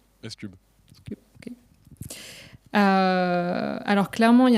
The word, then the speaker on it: SCUB: C'est comme ça qu'on prononce ? SCUB.